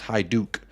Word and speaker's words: Hajduk: uh the americanka is in the house it's pronounced High Duke big up Americana our resident Croatian uh correspondent